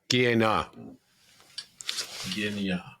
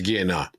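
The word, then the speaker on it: Gienah: They get overlapped also by seder and by ga ginya. I pronounced it wrong. It's guea.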